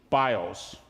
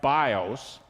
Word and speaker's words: bios: Well, Greco Roman, we'd say in English, bios. It's not pronounced that way in Greek, but Greco Roman bios.